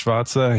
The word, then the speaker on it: Schwarzer: So I'm joined here today by Markus Schwarzer.